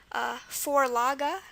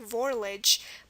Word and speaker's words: Vorlage: When I first heard this word, I was like, why is that pronounced Vorlage? It looks like Vorlich. But now you know that the schwa at the end of German words is going to be E.